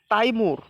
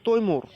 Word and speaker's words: তৈমুর: আচ্ছা, 11 নম্বর আছে তাইমুর বা তৈমুর, সঠিক উচ্চারণটা হবে তৈমুর এবং বাংলা হলো তৈমুর ও বিদ্যা মহিলা।